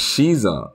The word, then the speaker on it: Caesar: He's pronounced Shiza, not spelled C. He's actually pronounced Shiza. Oh, I was calling him Caesar the whole time.